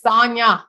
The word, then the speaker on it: Sonja: Her name is spelled with a J, but it's Sonja. She say like lasagna, lasagna. I mean, not lasagna. Lasagna, not lasagna.